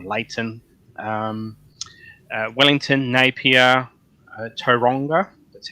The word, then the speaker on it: Tauranga: Christchurch uh or Layton um uh Wellington Napier Tauranga that's how you pronounce it I've been told by kiwisote you pronounce it and I not oranga yeah uh and Auckland then coming back to